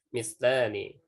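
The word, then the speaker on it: مثلان: Mislani. La-nya yang dibaca ya, bukan a-nya.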